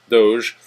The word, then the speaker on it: Doge: And he did say that it is pronounced Doge, even though their little moniker is a doggy.